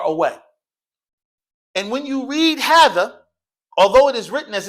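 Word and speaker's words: هٰذَا: it's short and long, although it is written as if it's what class short and long, like this, it looks like it's just what? Hadha. Hadha. Look, class. Hadha. Right? But actually, it's a small little indication here, which indicates that technically what it really is a what? It's a 2 count.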